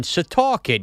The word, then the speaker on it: Setauket: Rob is in, how do you pronounce this again? Setauket? Jesus, Evan. Setauket.